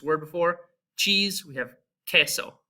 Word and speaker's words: queso: Cheese, we have queso, right? So you can hear that it's just like a K, and the U is silent as well.